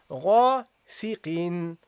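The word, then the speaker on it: غاسقٍ: So you say here, غاسقين. So this second haraka signifies a noon that you pronounce but you don't write.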